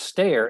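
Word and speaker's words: Stehr: A really quick question from Pratt, and I guess this is pronounced Stair, S-T-E-H-R.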